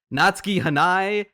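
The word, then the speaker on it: Natsuki Hanae: the performances from natuk oh no hold on I got to make sure I pronounce this right natski hanai and Shion wakayama who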